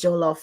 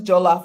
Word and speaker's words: jollof: I wanted to know, what is jollof rice?